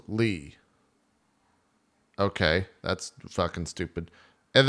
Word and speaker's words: Lea: Leah pronounced Lee.